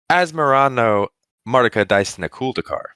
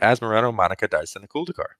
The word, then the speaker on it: Asmoranomardicadaistinaculdacar: we're going to be talking about, I can't pronounce this. Hunter, you had it down earlier. What are we looking at? This is Asmoranomardicadaistinaculdacar. Beautiful. You almost stumbled on that. No, dude. Asmoranomardicadaistinaculdacar.